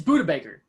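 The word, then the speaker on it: Budda Baker: you say it though do you say it like buddha baker or you say like buddha baker just like peccarine it's buddha baker the longest time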